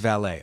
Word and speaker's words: Vallée: It is Vallée.